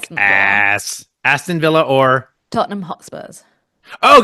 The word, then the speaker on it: Aston: And then Aston Villa or Tottenham? Austin, like Austin Martin? Aston, like Aston Martin, yeah.